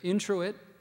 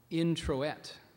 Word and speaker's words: introit: as the priest prepared to offer communion alternate pronunciations there's two so we have introit is the main one then we have of introit and intet could you pronounce all of them again please